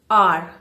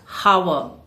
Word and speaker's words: hour: Here the H is silent. You say R, not hour.